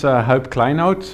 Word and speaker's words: Huib Kleinhout: kind words yeah so my name is help climb out it's a Dutch name we can't pronounce it unless you're Dutch I work from Stockholm